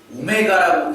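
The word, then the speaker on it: ω: 자, 참고로 이제 이 기호에 대해서 모르시는 분들도 많을 텐데 이 기호는 우리가 이제 W라고 보통 읽지 않습니다. 되게 영어 알파벳에 이제 W랑 되게 비슷하게 생겼죠. 근데 이 녀석은 이제 오메가라고 읽는 녀석이에요. 오메가.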